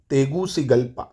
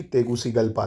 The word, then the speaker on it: Tegucigalpa: इसकी राजधानी क्या है, तेगुसिगल्पा, तेगुसिगल्पा। क्या है भाई, स्पेलिंग लिख देता हूँ, TEGUCIGALPA, तेगुसिगल्पा, तेगुसिगल्पा।